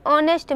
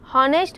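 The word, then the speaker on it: honest: एन ऑनेस्ट मैन, एन हॉनेस्ट मैन पढ़ना गलत है, एन हॉनरेबल मैन गलत है, N honourable man, N higher, तो यहाँ पे ईटीसी।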